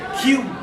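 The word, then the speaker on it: queue: But in British, we call it Q. Q-U-E-U-E, silent U-E-U-E. Just pronounce the Q.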